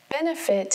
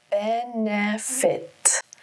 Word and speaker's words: benefit: Benefit has three syllables. Benefit. Emphasis is on the first syllable.